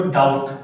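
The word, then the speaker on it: doubt: इसको डाउट, क्या बोलते हो, डाउट, क्या नहीं आया, बी, क्या नहीं आया, बी, बी का उच्चारण नहीं होगा, क्या बोलेंगे, डाउट, क्या बोलेंगे, डाउट।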